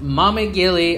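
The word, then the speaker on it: Maamigili: and number three is mommy Gili Island mommy gili islands that's how it's pronounced I actually go and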